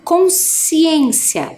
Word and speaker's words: consciência: vamos repetir lá ó consciência o SC parece que faz só o som do S né ó consciência É também um dígrafo né quando as letras SC na pronúncia representa um único som então consciência Então se